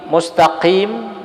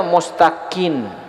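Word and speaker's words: مستقيم: minzalik atau misalnya almaqim mustaqim dia bacanya mustaqin ihdiniratal mustaqin bukan Mustaqim mustaqin Apa hukumnya Ah ini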